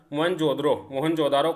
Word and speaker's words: मोहनजोदड़ो: हड़प्पा तथा सिंध का मोहनजोदड़ो। तो हड़प्पा कहाँ पड़ता है, पंजाब में, और मोहनजोदड़ो कहाँ पड़ता है, सिंध प्रांत में। मूल उच्चारण मोहनजोदारो कहा जाता है इसको।